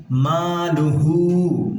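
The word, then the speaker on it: مَالُهُ: মালুহু, মা জবরের বাম পাশে খালি আলিফ মধ্যে তোবাই 1 আলিফ টেনে পড়তে হবে।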